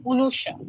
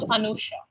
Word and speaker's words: Anusha: like Bengalis, for instance, the way that my name gets pronounced in Bengal is Unusha, not Anusha, because they will not start it with him.